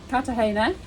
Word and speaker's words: Cartagena: So we're here in Kartahena as pronounces it. I pronounce it Kartagena because it's got a G in it.